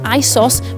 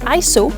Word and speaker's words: ISO: It's actually an abbreviation of ISOS, which is Greek for equal. For this reason, it should actually be said ISO rather than ISO, but either way, everybody